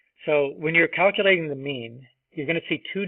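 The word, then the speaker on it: μ: line down that is the Greek letter me pronounced me right not mu me okay now there actually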